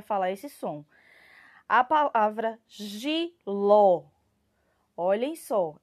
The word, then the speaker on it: jiló: qual aqui na palavra jiló vai ser ló certo que é onde tem o nosso acento agudo tá então essa vai ser a sílaba mais forte da palavra além dela vir com